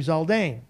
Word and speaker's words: Zaldain: Before 2023 was your last name Zaldain.